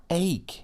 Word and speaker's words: ache: how it's spelled cuz it ends up being a hard sound even though there's a c before the H oh an ache yes very good I